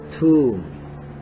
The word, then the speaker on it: tomb: 끝에 있는 B자는 발음이 되지 않습니다. tomb.